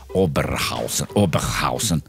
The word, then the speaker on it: Oberhausen: I have to pronounce that in German. Oberhausen.